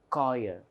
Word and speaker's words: choir: the beginning therefore Church sometimes you know the c h comes for other words like for example uh you know choir c-h-o-i-r Collier but there it is whereas here it is sure same spelling different pronunciation so this is what we